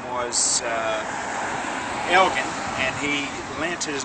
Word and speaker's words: Elgin: name to the city on the condition that they use the proper pronunciation, which was in Scottish is a hard G. So that's why everybody thinks that we're Elgin, and we're not.